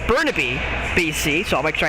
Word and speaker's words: Burnaby: team out of I believe it actually is pronounced Burnaby BC so I'll make sure I say that